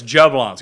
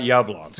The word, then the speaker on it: Jablonski: No, it's Jablonski. It's not Yablonski.